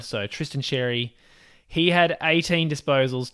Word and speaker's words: Tristan Xerri: I am trying to make sure that I pronounce his name correctly with the sound. So Tristan Xerri.